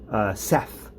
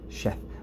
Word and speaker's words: Sheth: The last two letters of the Aleph Bet, Shin and Taf, make Sheth, or Seth, or Shes, or how the Ashkenazim pronounce it, which I won't.